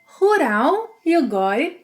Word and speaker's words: rural: And let's not overlook the final L sound that in Brazilian Portuguese is often pronounced as U. Rural, rural, rural.